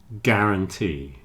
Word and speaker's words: guarantee: friend guard and guarantee guard and guarantee have a hard G and you don't pronounce the U guard guarantee hole sounds like hole